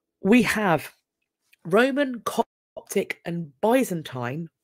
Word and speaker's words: Byzantine: We have Roman, Coptic and Byzantine, or Byzantine. I've heard it pronounced both ways. I say Byzantine, but I've heard it said differently.